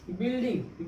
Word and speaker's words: building: ठीक है, जैसे बिल्डिंग, बिल्डिंग में क्या है, बिल्डिंग में क्या, BUILDING, बिल्डिंग। बिल्डिंग में क्या, यू क्या, साइलेंट। ठीक, बिल्डिंग यानी कि BILDING, बिल्डिंग मीन्स क्या, बिल्डिंग, यानी